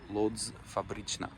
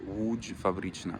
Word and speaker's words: Łódź Fabryczna: It's called Lodz Fabryczna, or Łódź Fabryczna, if you will pronounce it in Polish.